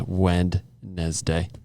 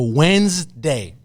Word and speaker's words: Wednesday: Like we should get like the N and the D should switch places and get rid of that middle E in there.